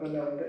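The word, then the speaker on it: ānanda: the root meaning of aanda is fascinating the a at the beginning means not means great it's a long a means great a short a in Sanskrit means not as in aditer and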